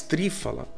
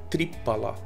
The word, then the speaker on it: Triphala: você também pode utilizar ele fala mais three fala né na verdade pronúncia certa seria tripala né fala é fruto